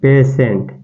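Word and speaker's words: patient: देख सकते हैं जैसे कि पेशेंट क्या देखेंगे पेशेंट इसका जब उच्चारण करेंगे य क्या लिखा है पेशेंट पेशेंट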